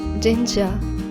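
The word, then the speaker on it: 진짜: I will teach you Korean phrases, its pronunciation and its meaning in English. Let's get started. First one is jinja.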